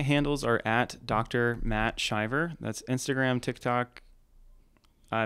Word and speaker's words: Shiver: is my website and it's spelled like shiver if anyone's wondering yep shiver so nobody knows why it's pronounced driver but we're gonna move